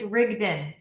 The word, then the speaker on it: Rigden: It's Rigden. For the audience, it's Rigden. That's the only way you can pronounce it.